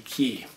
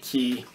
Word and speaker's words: Cay: cay is in the key and i did a little bit of research and what i found is that people that are natives of these islands in the caribbean they will pronounce it key and the way they